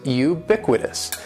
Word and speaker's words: ubiquitous: the first word is ubiquitous and ubiquitous has four syllables that first syllable is